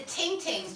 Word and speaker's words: ting ting: And I said everybody thinks I pronounce it wrong, because I know I have a right Dublin accent, but they are actually called ting ting, T-I-N-G, T-I-N-G, and these curly whirlies.